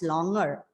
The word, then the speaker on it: longer: So even I used to think that it is longer, but we are wrong. The word has got the g sound. There are 2 syllables in this. And of course, it's an adjective. The stress is on the first syllable, and you pronounce the word as longer.